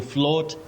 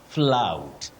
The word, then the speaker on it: flout: To float the traffic rules. To float in Kiswahili is kuelea. Kuelea. But kukiuka sheria ama kutoti sheria, you say flout. Flout. To flout the traffic rules, not to float.